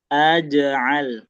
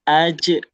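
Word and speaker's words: أجعل: Jangan ajah aj'al. Oke ya. Pastikan dulu dia pakai tengah lidah. Coba Bunda Rina baca. Aj'al. Aj'al. Masih kedengaran dikit tuh c-nya. Masih aj ajal. AJ ya sudah mulai membaik tinggal nanti gimana masih dirasa-rasa ada C-nya aje al nah itu lebih baik tuh sudah hilang tuh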